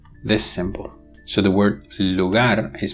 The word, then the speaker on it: lugar: vo verer frive this Syle so the word Lugar is pronounced Lugar the alular pive The Voice alular